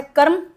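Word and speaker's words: karma: उसके अलावा आपका यह वर्ड है कर्म। कर्म हिंदी में बोलते हैं कर्म।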